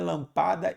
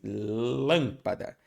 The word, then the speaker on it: lâmpada: lá e na última não é lâmpada não é lampada e sim lâmpada então sílaba tônica é o lã aí descoberta a sílaba